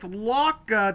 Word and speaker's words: Lauca: is a micro story author I'm here with Locka did I pronounce that name correctly yes you did perfect